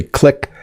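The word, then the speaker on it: clique: crew on a ship so this word has two pronunciations and I say click some people say click this is a group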